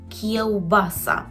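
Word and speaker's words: kiełbasa: кієобаса є уба Сас Зверніть увагу на вимову губного звука в кіобаса шинка так і буде-шинка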